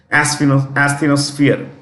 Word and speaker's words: asthenosphere: very semi-liquid layer, called asthenosphere. Asthenosphere. It's a gummy layer. It's a semi-liquid layer. Asthenosphere. When you pronounce this, it is SF, not SP, SF. Asthenosphere.